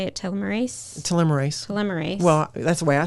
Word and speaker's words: telomerase: Telomerase.